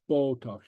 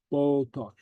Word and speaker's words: bodach: Bodach, tokel. Okay. All right. So the Gaelic T and the Gaelic D are pronounced a little bit different from the English.